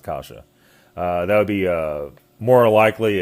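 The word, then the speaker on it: каша: It's spelled KAWA. It's pronounced kasha.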